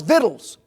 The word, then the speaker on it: victuals: That little word's victuals.